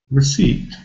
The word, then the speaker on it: receipt: pronounced we've got p which is not pronounced why is that there we don't know but it's there we have to learn it but in clear alphabet you can see very clearly the first syllable is weak receipt you see can